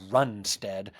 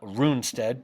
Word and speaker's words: Runstead: But we got Ellis Islanded, and so I usually pronounce it Runstead and not Runestead.